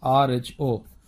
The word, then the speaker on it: rho: rho is the radius, now how do you pronounce this? This is rho.